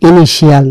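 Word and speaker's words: initial: আপনারা অনেক জায়গায় পাবেন ইংরেজি শিয়াল, পটেনশিয়াল, ইনিশিয়াল, নানা শিয়াল। এটা ভুল, এটা একটি বড় ধরনের ভুল। ইনিশিয়াল বলতে কিছু নাই, ইনিশিয়াল। এই শিয়ালের উচ্চারণটা হচ্ছে সল, সুতরাং ইনিশিয়াল নয়, ইনিশিয়াল।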